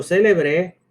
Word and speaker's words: célebre: Si yo escucho célebre, no hay duda de que estoy hablando de un adjetivo.